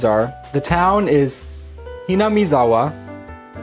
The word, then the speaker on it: Hinamizawa: Krueger of cause told me what all the pronunciations are the town is ham maawa right ham maawa the main character is kichi then we have